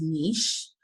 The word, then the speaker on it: niche: some people I know the proper way to say it is nice but you want to